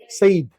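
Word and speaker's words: Said: नाम लिखो सब लोग इसको सैड नहीं बोलना है क्या बोलना है सईद पैलेस्टीनियन राइटर है लिखो हां 2004 में डेथ हुई है।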